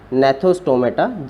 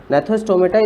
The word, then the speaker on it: Gnathostomata: This subphylum is divided into Agnatha and Gnathostomata. G is silent here. Gnathostomata is further divided into two superclass.